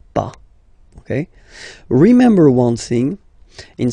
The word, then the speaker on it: pas: Okay, but as usual, final s is not pronounced, so it's pas.